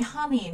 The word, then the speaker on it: honey: Các bạn thấy honey là chúng ta sẽ bật cái âm h, còn lại honest, honor, hourly nó bị câm.